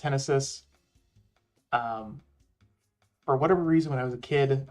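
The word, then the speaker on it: Henesys: right so I'm going to go back to Hennessy real quick I know I know it's pronounced henis um for whatever reason when I was a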